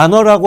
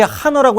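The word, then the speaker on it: honor: H에서 많이 묵음이 돼요. 우리가 안어라고 하지 하어라고 안 하잖아, 명예를.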